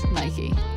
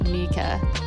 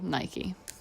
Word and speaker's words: Nike: way we may think commonly mistaken to rhyme with the english word bike if we're to be exact it should be said like nika because the english pronunciation